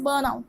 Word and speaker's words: burnt out: This T is silent, यानी कि यू will pronounce it एज बर्न आउट बट इट is written as टी.